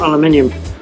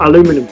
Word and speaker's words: aluminium: I just wanted to double check that was actually tin copper, not aluminium, or aluminum as you Americans say.